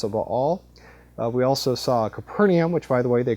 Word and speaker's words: Capernaum: defeated the prophet of all we also saw capernium which by the way they corrected me they they um told me that the correct pronunciation is kaer AUM CER means Village and AUM is the uh